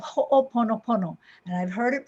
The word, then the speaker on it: ho'oponopono: make things right and in pronouncing it it is ho'o like uh oh right and we want